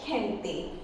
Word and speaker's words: gente: And when it is followed by I or E, then it will be very soft pronunciation, soft sound of G, like gente.